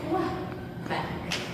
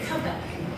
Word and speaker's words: Quebec: I pronounce it Quebec. You say Quebec. Is that the correct way to say it? I don't know. No, they say both.